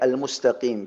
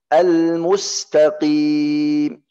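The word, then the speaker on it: المستقيم: Al-mustaqim. Ini yang ada yang orang yang banyak yang salah. Apa yang salah di huruf qaf? Ada orang mirip bacanya mirip huruf kaf.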